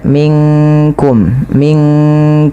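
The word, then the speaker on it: منكم: Dia nunnya samarkan ke kaf, bukan minkum. Tapi ya, bukan ming ya, tapi dia minkum langsung kepada makhraj huruf kafnya.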